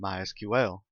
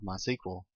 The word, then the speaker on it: MySQL: as you can tell I've been calling it MySQL that is the correct pronunciation however it is also commonly called my sequel if you hear it called that don't be